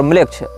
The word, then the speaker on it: Melech: ANAMMLECH या इसी प्रकार की कोई स्पेलिंग आप टाइप करेंगे, अनाम ANAM और म्लेच्छ। इसमें म्लेच्छ जो है वो हमारा वाला म्लेच्छ नहीं है, मेलेच्छ, मेलेच्छ शब्द जैसा है, MELECH इस प्रकार से।